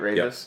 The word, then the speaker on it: Raveis: That's how you pronounce that, right? Raves.